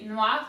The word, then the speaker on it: noir: color for hermes so in french we say noi it's actually the pretty much the adjective for